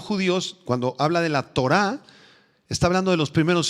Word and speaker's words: Torah: Es la palabra hebrea Torah, con H al final y acento en la A. Torah.